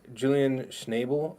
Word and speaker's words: Julian Schnabel: Now this is what's interesting too to me is Julian Schnabel, I believe is how you say it.